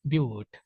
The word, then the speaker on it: ब्यूट: क्या बोलेंगे इसे, ब्यूट। हाँ, बूट उठ ना कही देना, ब्यूट है, बट ना पता चले कहते बट भी बोल देते भैया, बट नहीं, ब्यूट।